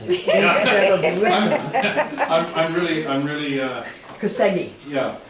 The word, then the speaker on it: Koszegi: And judging by the expression on Cindy's face, I messed up the pronunciation of the last name. So you read instead of listened. I'm really. Koszegi. Yeah, Koszegi.